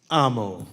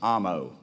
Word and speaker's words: Amo: how do you say your last name Gabe Amo Amo all right brother I got it all right